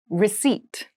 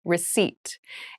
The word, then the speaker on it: receipt: meal room service meal receipt receipt receipt receipt has a very interesting spelling there is a p in the spelling of this word but we do not pronounce it the pronunciation is receipt a receipt is a